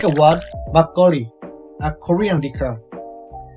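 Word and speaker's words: 막걸리: Like a word makgeolli, a Korean liquor. When you say makgeolli, actual pronunciation is to be a double consonant, like makgeolli.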